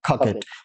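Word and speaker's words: coquette: इसका प्रोनाउंसिएशन क्या होगा, खकेट।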